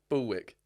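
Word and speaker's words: bulwark: Bullwick is how you pronounce that word. Bullwark is Bullwick.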